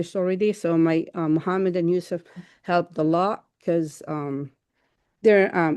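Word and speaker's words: Youcef: So my Mohammed and Yusuf helped a lot because they're native speakers and they're young to manage things that I cannot do.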